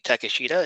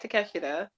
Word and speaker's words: Takeshita: um adam page defeated konosuki takashita is that how you used to pronounce it uh they forward they were going with konosuke takeshita so i guess his like preferred pronunciation you're going to say